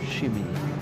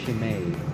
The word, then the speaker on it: shime: It's not shimmy. It's shime, isn't it?